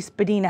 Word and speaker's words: Spadina: Actually, Spadina House is how they pronounce it.